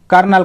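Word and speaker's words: colonel: यह जो है ना देखिए इसमें spelling C ओ एल ओ एन ई एल लिखा हुआ है लेकिन हम इसे उचा क्या कर रहे हैं कर्नल कर रहे हैं तो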